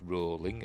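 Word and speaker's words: Rowling: series JK rolling wrote yes it's rolling as in rhymes with bowling and show runner Franchesca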